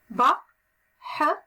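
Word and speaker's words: بحرٌ: بحر بحر. بحر بحر. نحن نلفظ الكلمة بحر ولكن لا نكتب هكذا لأن هذه النون غير حقيقية تلفظ ولا تكتب.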